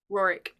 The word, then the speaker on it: Roerich: Roerich.